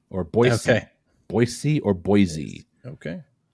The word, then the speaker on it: Boise: which U.S capital city is pronounced with a z sound by Outsiders but an S Sound by locals uh uh Sacramento unfortunately Boise or Boise okay Boise or Boise